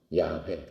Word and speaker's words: 야훼: 여호와께서 계속 나오지 않습니까 여호와는 yhwh를 씁니다 yhwh 여호와라는 말 자체를 쓰지 않는 yhwh 야훼 그거를 여보가 이렇게 발음을 하는 거지요 그런데 절대로 그 말을